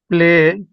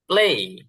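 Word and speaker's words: play: হ্যাঁ বলেন প্লে খেলা স্টার্টিং একটু একটু ই করবেন প্লে হবে হবে না তা না তবে একটু যেহেতু ওরা এভাবে উচ্চারণ করে তো এজন্য প্লেই প্লেই হ্যাঁ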